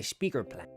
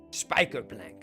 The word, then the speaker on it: spijkerplank: You don't want to mess with me when I got my speaker plank. Spijkerplank. Glitterpalving zegt, je spreekt het uit als spijkerplank. Spijkerplank. Spijkerplank. That's how you say it.